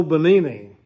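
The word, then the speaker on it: Benigni: his name Roberto bonini it took me a while to find out how to pronounce it Roberto o bonini he leaped to his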